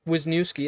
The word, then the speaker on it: Wisniewski: Wisniewski, that's how I'm saying it.